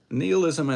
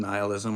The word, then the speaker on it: nihilism: Neilism and nihilism are both perfectly good pronunciations. I say to you, it's a matter of preference.